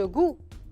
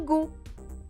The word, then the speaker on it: goût: من هيك بنقول له السانس le goût. شوفوا كتير بيشبهوا بعضهم، يعني إذا حفظتوهم هون تحفظوهم هونيك، بس le goût شوي صعبة لأنه بتنكتب بهيدي الطريقة. G-O-U avec un T que je ne prononce pas et je mets un